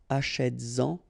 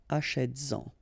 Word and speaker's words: achètes-en: And then achètes-en, achètes-en, all right?